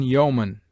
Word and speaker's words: yeoman: EO is found in yeoman, where it is sounded as o short, and in people, where it is pronounced like ee.